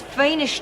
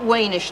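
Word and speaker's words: Wiener: yes for what because it's fish nitel not weish nitel it's spelled with a V now we're going to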